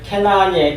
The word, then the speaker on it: 가나안: 근데 원래 가나안이란 말이 캐나안이에요. 캐나안. 발음을 정확하게 하면 캐나안이란데 이런 말인데 이건 원래 낮추어진 그런 뜻이에요.